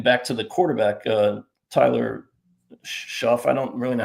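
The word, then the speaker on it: Shough: Like some teams, getting back to the quarterback, Tyler Schuff. I don't really know how to pronounce his name. Tyler Schuck.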